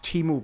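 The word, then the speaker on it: Temu: Timu is pronounced Timu, Brent.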